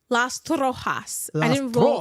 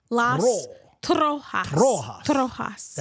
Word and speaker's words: Las Trojas: Las Trojas. I didn't roll the R like Las Trojas.